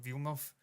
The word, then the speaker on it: Villeneuve: Villeneuve said this, and that's the way you say it, by the way. It's not Villeneuve. It's not fucking F1. It's I think his name is probably Villeneuve as well, but people just butchered it like they do with Van Gogh.